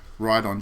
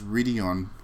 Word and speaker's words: Rideon: that developer's name is ride on japan now i used to think it was pronounced ready on because in english the name is always condensed into the one word